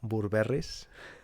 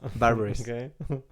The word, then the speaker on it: Burberry: En espagnol, ça se prononce Burberry's. À propos de quoi? Burberry. Burberry.